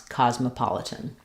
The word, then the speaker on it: cosmopolitan: So so cosmopolitan is stressed on the pa syllable. Letter O says the ah sound there, pa-litan. And we have secondary stress on the first syllable here, and this letter O says ah as well, cosmo. The letter S says Z here, cos.